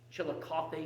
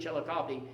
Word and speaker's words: Chillicothe: point in your life where you think this chill of coffee is that how i pronounce it again coffee chili coffee don't ever get to a point in your life where you think chillicothe is not right into harvest that's the mistake